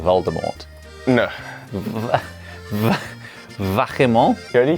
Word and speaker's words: vachement: Vachement.